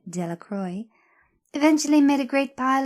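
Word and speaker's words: Delacroix: The villagers pronounced this name Delacroy, eventually made a great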